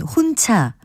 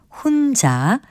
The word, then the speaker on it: 혼자: 놨는지 잘 못 찾겠네 지금 들으신 예문에 나온 혼차 숨켜는 모두 주위의 음성적인 환경을 봐도 거센 소리로 발음될 이유가 전혀 없는 말들입니다 이것은 글자 그대로 혼자 그리고 숨겨로 발음하는 것이 맞습니다 그리고 외래어나 외국어 단어